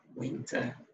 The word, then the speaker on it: winter: Winter, okay. So you're not gonna say winter. No, the R is not to be pronounced, it's silent.